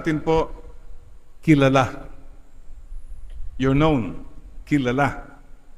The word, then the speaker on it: kilala: Kilala. Apo, sa last syllable ang stress.